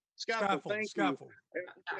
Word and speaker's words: Scaffold: That if I'm pronouncing Scaffold, that correct. Scaffold.